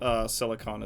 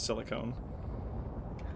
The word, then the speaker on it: silicon: Yes, I consistently pronounce silicon as silicone. Cause Drives me fucking nuts. just because Yeah, that's 'cause the it- way I heard it pronounced for the longest time. And he likes to No, annoy silicone- those sort of people. Silicone is something. That's just Silicon. not the thing.